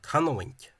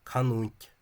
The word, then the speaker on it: canúint: Probably Canowink, 3 syllables, not two syllables from the Free State Civil Service spelling, canúint, but canúint, three syllables.